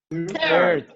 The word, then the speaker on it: third: Tercero, Third. third. Ajá. Recuerden que la TH se pronuncia como poniendo la lengua en medio de los dientes, ¿no? Suena como third.